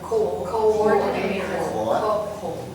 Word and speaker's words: coordinator: Number 2, Is coordinator. coordinator. So it's coordinator. Oh, coordinator. There are two O's. There- No, Co meaning to come together. Yeah. Coordinate. We pronounce coordinator.